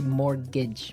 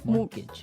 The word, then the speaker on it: mortgage: Yeah, it has a T in it, but you don't pronounce it. You say mortgage. Mortgage.